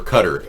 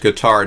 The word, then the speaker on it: Qatar: got money from from Qatar or Cutter as some pronounce it it used to be pronounced Qatar now they pronounce it cutter so Rudy we're waiting